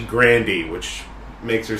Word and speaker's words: Grande: those who don't know she prefers that her last name be pronounced properly it's not grande it's actually Grandy which makes her sound